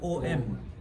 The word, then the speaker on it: Om: no that is no is never written as a it is written as om and that is also not right om actually it is it's one syllable it's one syllable with chandra bindu nadakalita.